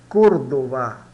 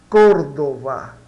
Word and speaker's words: Córdoba: Se pronuncia Córdoba. Códova, tá?